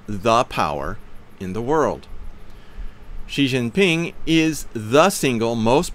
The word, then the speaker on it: Xi: Xi, again pronounced like she, has done more in less time, with less violence, than any other man that I know of.